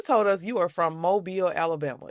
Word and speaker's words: Mobile: So So you told us you are from Mobile, Alabama. It's not pronounced mobile or mobile. No, Mobile, Alabama.